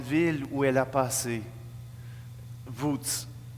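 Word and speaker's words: Łódź: Wódz. Ça se prononce comme ça, mais ça ne s'écrit pas comme ça. Simplement que dans un parc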